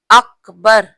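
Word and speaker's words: أكبر: अकबर नहीं, अकबर सही लफ्ज है, अकबर। तो यही सही प्रोनाउंसिएशन है।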